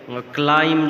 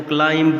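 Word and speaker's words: climb: जैसा कि ये ग्राफ में दिए गए हैं, क्लाइम जो है इसको क्लाइंब नहीं पढ़ेंगे, बी जो है एक साइलेंट लेटर है।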